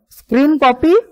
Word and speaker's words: scrcpy: camera, that's why let me just use this screen copy, SCRCPY, which is spelled as screen copy, or okay, it is over here, and let me quickly unlock my device.